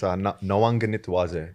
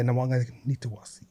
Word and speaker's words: Nawaqanitawase: Yeah, it's Nawaqanitawase. The Q is pronounced as a G. Yeah, Nawaqanitawase.